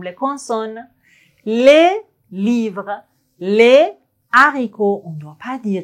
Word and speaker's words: haricot: Le livre, le haricot, on ne doit pas dire l'haricot.